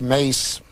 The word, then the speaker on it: Maas: in ireland in ireland spelled the same as the dutch version and it's pronounced mace and it means in